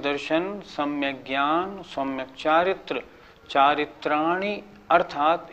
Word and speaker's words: चारित्राणि: कुछ लोग कैसे बोलते हैं, सम्यक दर्शन ज्ञान चारित्राणी मोक्ष मार्ग, ये गलत हो गया। चारित्राणी नहीं, चारित्राणी, छोटी की मात्रा को छोटी की मात्रा बोलना है।